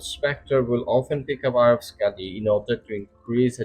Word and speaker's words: Skadi: Scotty means damage or harm in old Norse and Icelandic pronounced Scotty.